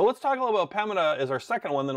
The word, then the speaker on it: Pembina: I always pronounce their name wrong, Pembina or Pembina. I believe it's Pembina.